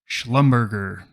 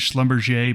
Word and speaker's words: Schlumberger: us this week we're going sideways again with Schlumberger now I know some of you are saying rob that's not how you say it but that is how we say it at Maverick the real company is Schlumberger but years ago one of our new Traders